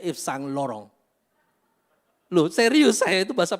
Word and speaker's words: Yves Saint Laurent: Itu bacanya Yves Saint Laurent.